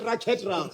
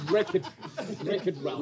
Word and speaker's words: Wreck-It Ralph: You said racket round. It's wreck. The W helps you go wreck it round.